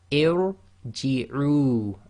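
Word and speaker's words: ارجعي: Again, the ra will be full mouth. So here we have irji'u, and again, if you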